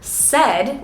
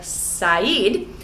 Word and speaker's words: said: They often make the mistake of pronouncing both vowels separately like sayeed. You could group this word, said, with other similar vowel sounds like bed, fed, wed, and said.